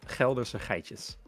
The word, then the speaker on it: Geldderse Geitjes: It's actually pronounced the Geldderse Geitjes. Okay. See, So in English we don't have that kind of more guttural G.